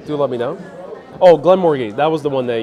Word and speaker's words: Glenmorangie: I'll have the Glenmorangie 10. How do I pronounce it?